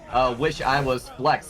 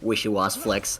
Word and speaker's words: Wish I Was Flex: Yeah, it does make way more sense to pronounce it "wish I was flex" instead of "wish you was flex."